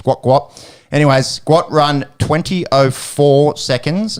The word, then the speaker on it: Gout Gout: saying it right now spelled English phonetically gout gout and I think his dad come out and said it's guat guat anyways guat run 204